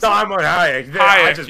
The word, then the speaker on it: Salma Hayek: Salma Hayek.